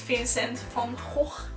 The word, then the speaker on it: Vincent van Gogh: Something else that you must know of Noord Brabant is that it's the province where Vincent van Gogh it's pronounced as Vincent van Gogh, was born.